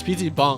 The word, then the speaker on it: PC bang: A PC bang. Bong. Pronounced with a long A, like bong. We're at one right now. It's PC bong.